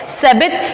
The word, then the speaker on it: Sabbath: Holi stream कौन है, Holi stream का देखो नाम आया है यहाँ पे, ये जो स्पेलिंग है SABBATH, सबित, ये होली स्ट्रीम है, छोटी रिवर है ये।